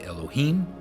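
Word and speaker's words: אלהים: So in modern Hebrew, people would say Elohim, but I believe that it's the aleph forces you to use the a sound, and it would be Alaim, right?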